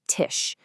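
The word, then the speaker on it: Tisch: S ch will always be a shh sound like in tish.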